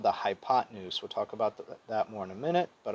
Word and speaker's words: hypotenuse: But you don't say it hypotenuse. You pronounce it hypotenuse, okay?